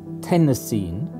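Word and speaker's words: tennessine: i would pronounce it tenocine like iodine and chlorine astatine was known to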